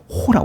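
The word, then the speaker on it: ὁ: 거친 쉼표가 나오게 되면 렇게 이제 오가 아니라 호라 그래요 호 이게 이렇게 쉼표가 되면 오데 이렇게 쉼표가 되면 호라고 읽어요 호 요런 거 이제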